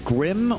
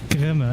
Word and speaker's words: Grimme: is it Grim or Grimmy? It's Grimme, actually, yes.